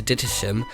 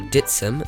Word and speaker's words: Dittisham: before moving up to Dittisham, or Ditsham as locally pronounced, where we moored alongside Anne the Jeannot from Switzerland.